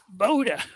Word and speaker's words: Bode: How do you pronounce that name? Bode.